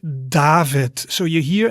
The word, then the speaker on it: David: the word david right david so you hear in the beginning i make d and in the end i make a t sound david then we have